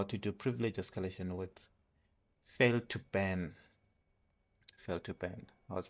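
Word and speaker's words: fail2ban: Then we also learned how to do privilege escalation with fail to ban. Fail to ban. I was pronouncing it wrong. It was fail to ban, not fail to bin.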